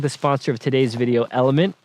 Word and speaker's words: LMNT: you to consume so element l m NT but pronounced element is an electrolyte drink